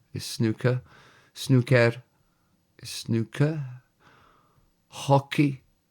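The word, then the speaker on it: hoci: Hockey is hockey, believe it or not. H O C I.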